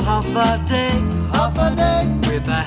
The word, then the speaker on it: Hafa Adai: it's as easy as one two three just pronounce it I said half a day sing it with the beat that say it